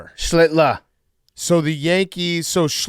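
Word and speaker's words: Schlittler: Schlitler.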